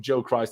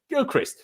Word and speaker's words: Gilchrist: By the way, I've now realized how to pronounce his flipping name. So cheers, John Terry, for that. John Terry, how you pronounced it. I was calling him Joe Christ and all sorts of things.